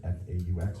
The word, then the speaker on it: faux: The faux bricks, I guess that's how you say it, F-A-U-X, faux, yeah, all right.